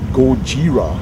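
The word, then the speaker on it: ゴジラ: You know, not Godzilla, nobody pronounces the Z in Japanese, supposedly. And so it's more like Gojira, actually.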